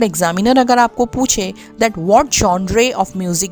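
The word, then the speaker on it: genre: इसका प्रोनाउंसिएशन है जॉनरे।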